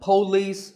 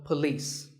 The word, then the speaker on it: police: women word number six is police this isn't police or polis it's paw and beliefs with the stress on lease so police the next word is vehicle it's often pronounced